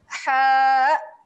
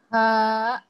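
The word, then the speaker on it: ح: Perasan tak dia punya ejaan dia? Okey. Yang ini saya sebutkan dahulu, sila ikut. Ha. Ha.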